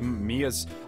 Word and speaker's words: Mia: Well, you see, it's just Mia's...